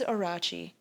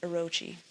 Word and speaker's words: Orochi: Nagi's legend and frees Orachi. I think that's supposed to be pronounced Orochi, who escapes and curses the lands, sapping the life from Nepon.